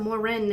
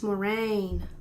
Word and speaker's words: Morin: Instead of Moren, it's Morraine.